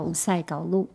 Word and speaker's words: Usay Kawlu: 我是，然后我的族语名字的发音叫伍塞高路，是阿美族。